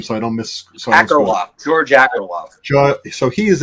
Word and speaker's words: Akerlof: Pronounce George's last name so I don't miss. Akerlof, George Akerlof.